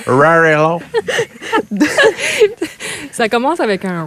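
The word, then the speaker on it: Warrillow: Donc, c'est Build to Sell de John Rarillo.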